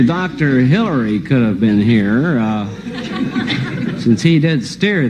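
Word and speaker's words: hier: How do you pronounce that? Here.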